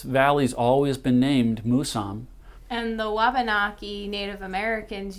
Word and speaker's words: Mousam: it's it's an indian word and she said musam and she pronounced it it's supposed to be pronounced musam she said it means grandfather that's very important